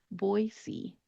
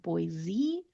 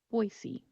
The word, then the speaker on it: Boise: So think of the two words boy and see and just put them together. Boise, Boise.